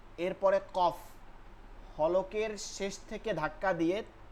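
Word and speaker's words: ك: আসবে কফ calf calf কাফটা হচ্ছে জিহ্বার গোড়া থেকে একটু আগে বাড়া এরপর আলোতে একদম নরম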